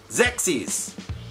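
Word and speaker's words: Xexyz: Xexes. I think that's how you pronounce it, only because it rhymes with sexies.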